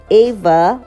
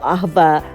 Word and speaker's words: Aava: covet started this is ava or eva melaka hotel it's spelled as a double a v a eva or ahba mlaka hotel located in